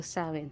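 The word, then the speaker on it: Samhain: sa mga ah nagce-celebrate ng samain Paano ba bigkasin yit saen so sawin so sa mga nagce-celebrate ng sawin happy sawin which is October 31 to November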